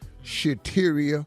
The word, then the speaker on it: Shateria: in the wrong relationship shateria that rhymes with cafeteria and that's where we